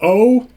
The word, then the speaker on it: OU: the band is called o the album is called O2 Frailty so the second album to Frailty and the band name is spelled oh o u otherwise known as o at first I was